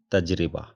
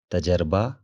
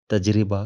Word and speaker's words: تجربہ: ہوگا، ہم نے خوب تجربہ کر کے دیکھ لیا۔ تے کے اوپر زبر، جیم ساکن ہے، رے کے نیچے زیر ہے اور بے کے اوپر